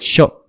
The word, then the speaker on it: Machaut: Machot. No, en realidad sería Machot. Se escribe Machaut.